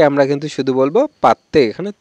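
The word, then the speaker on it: പത്ത്: আমরা মায়ালাম ভাষায় বলবো পাত্তে 10 মায়ালাম হবে পাত্তে ওকে এখানে কিন্তু ত উচ্চারণ হবে আমরা কিন্তু বেশিরভাগে পাদে উচ্চারণ দ উচ্চারণ করে থাকি কিন্তু দ টা উচ্চারণ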